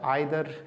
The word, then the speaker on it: either: ये जो लफ्ज़ है आइदर, इसको हम इधर भी पढ़ते हैं, आइदर भी पढ़ते हैं, दोनों प्रोनाउंसिएशन ठीक हैं।